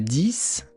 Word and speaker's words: dix: Alors aujourd'hui 10 11 12 le 10 ça s'écrit d I x mais là le 10